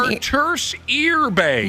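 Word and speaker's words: Artūrs Irbe: Arturs Irbe.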